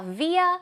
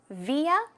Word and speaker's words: via: Now, via means through, right? Through. 무엇을 통해서. In this case, you can pronounce it two ways. Via or via.